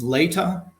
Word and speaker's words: Latah: And you're with, do I pronounce this correctly? Lata? It's Lata. Lata?